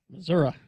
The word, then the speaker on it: Missouri: up well let's see just quickly Missouri Missouri state of Missouri which is the show-me state